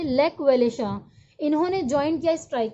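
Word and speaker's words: Lech Wałęsa: Electrician थे shipyard के, lake वेलेशा, इन्होंने ज्वाइन किया स्ट्राइक को, लेक वेलेशा, इसे हम कैसे प्रोनाउंस करते हैं, लेक वेलेशा।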